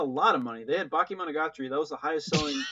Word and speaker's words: Bakemonogatari: It's Bakemonogatari.